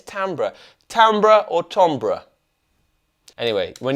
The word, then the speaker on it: timbral: right cuz I heard I was told of saying tombra I've learned it's tambra right is that what you say I say tombra I no but I was saying it's tambra tambra or tombra anyway